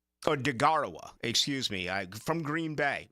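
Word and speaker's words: Deguara: Josiah Duawara is how you pronounce his name. Or Degarawa, excuse me, from Green Bay.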